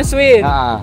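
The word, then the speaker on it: Schwinn: Oh bacanya Swin.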